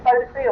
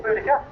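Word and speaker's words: Boadicea: It's the engine Bodicea or Boudica, depending how you wish to pronounce it.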